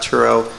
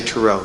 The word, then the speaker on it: Turow: be able to bring in authors like scott turow and this is important churro is the correct pronunciation that is correct yeah a lot of people say taro so now you know it's turo you can